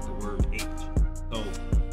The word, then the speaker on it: Aitch: because i'm guessing that's how y'all say because y'all say it's h you know so it's the let's y'all say it's like the letter h but you just pronounce it h right i hope i'm